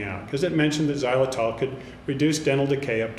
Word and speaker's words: xylitol: now to discuss what xylitol is for those that aren't familiar with it xylol is actually spelled with an X pronounced with a z let's do some homework